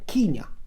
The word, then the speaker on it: Kenya: anybody interjects, that it's the colonial vogue is to call it, to pronounce it Kenya, which is fine. I'm not disputing that, but I take it as Kenya. Because in my earliest years, when I was 4 or 5, and one of my besties happened to be from Kenya, a Kenyan family, that's how they pronounced it, so it got into my psyche.